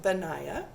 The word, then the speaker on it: Benaiah: His name is Benaiah. It's pronounced Benaiah.